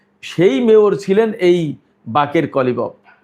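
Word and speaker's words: باقر قالیباف: সেই মেয়র ছিলেন এই বাকের কলিবফ। বাংলাদেশের মিডিয়ায় বা ইংরেজিতে লেখে বাঘের গালিবফ, কিন্তু আসলে উচ্চারণটা হবে বাকের কলিবফ, মোহাম্মদ বাকের কলিবফ ফার্সিতে।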